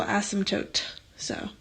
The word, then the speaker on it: asymptotes: so now what the heck is a vertical asymptote so asymptotes that's how you say it people always